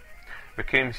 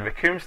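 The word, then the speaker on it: Recoome: And Raccoon's name also rhymes with Doom, as most anime fans will remember.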